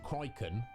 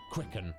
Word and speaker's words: Cricken: I believe the last time you were here, I called you Criken, which that's what it looks like to me. However, I went and looked at your details, and it's actually Cricken, right? That is the correct pronunciation.